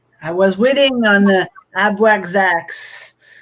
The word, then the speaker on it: Abraxas: I was waiting on the Abraxax. I don't know if I pronounce it right. It was close. Abraxas.